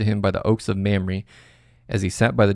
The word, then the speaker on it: Mamre: How do you pronounce? Mamre. Okay, so it is Mamre.